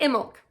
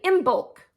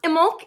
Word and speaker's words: Imbolc: little bit about pronunciation so I say it in milk it is spelled i-m-b-o-l-c so a lot of people will say in bulk I don't know that that's actually incorrect I